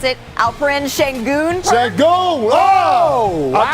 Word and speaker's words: Şengün: All right, let's go to H-Town for top slams because rookie, do you want to pronounce it? Alperen Şengün? Şengün!